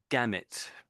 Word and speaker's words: gamut: So that's gamut.